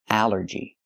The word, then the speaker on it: allergy: The rule is ALL makes the sound all, like ball and call. But here it makes the A sound, the short A like in apple and black. Allergy. It's 3 syllables. Allergy. The stress is on the first syllable.